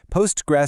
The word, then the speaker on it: Postgres: So, the name is literally Postgres. You can say the whole thing, PostgreSQL, or just Postgres, but please never Postgre.